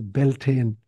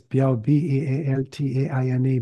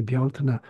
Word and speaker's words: Bealtaine: The second one is Bealtaine. It's often mispronounced in English as Beltane. Yeah, but in Gaelic it's Bealtaine, Bealtaine.